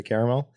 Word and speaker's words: caramel: it both ways okay same thing with caramel sometimes they'll say caramel and sometimes they'll say caramel and it literally like is never in my mind when